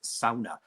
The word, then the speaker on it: sauna: Like I say, it's technically supposed to be pronounced sauna.